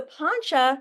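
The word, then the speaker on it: pañca: So, poncha means five. Poncha. If you see it spelled this way with just a C ever, the C always makes a ch sound like chakra.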